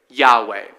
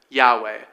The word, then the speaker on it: Yahweh: This is what you'll often hear people say, "Yahweh." That's our best guess at how that is pronounced, "Yahweh."